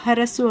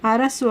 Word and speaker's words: ಹರಸು: ಆಗುವಂತೆ ಮಾಡುವುದು ಅಂತ ಅರಸು ಹರಸು ಅಂದ್ರೆ ಆಶೀರ್ವಾದ ಮಾಡು ಉಚ್ಚಾರಣೆ ನೋಡಿ ಅರಸು ಅಲ್ಲ ಹ ಅರಸು ಅಂದ್ರೆ ಆಶೀರ್ವದಿಸು ಇನ್ನು ಗೌರವ